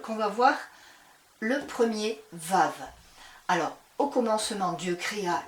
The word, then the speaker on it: Vav: Donc le Vav se prononce quand il est devant un mot, il se prononce V ou il se prononce comme un W.